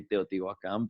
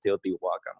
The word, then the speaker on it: Teotihuacan: pyramids of Teotihuacan, and that's how they say it. You actually say Teotihuacan, but that they say it Teotihuacan where when they're in that episode.